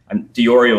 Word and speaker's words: Di Iorio: And yeah, Di Iorio is the proper way of pronouncing it, like D with Oreo cookie beside it.